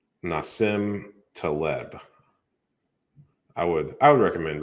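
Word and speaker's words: Nassim Taleb: about black swans n-a-s-i-m that's how you say his name nasim teleb i would i would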